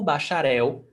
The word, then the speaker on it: bacharel: E o bacharel, a bacharela. And remember, pronunciation. Words ending in L has the pronunciation of U, bacharel. Okay? In Brazilian Portuguese, bacharel.